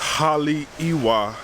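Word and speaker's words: Haleʻiwa: it look at me so this town pronounced holly iwa it's located on the north shore of the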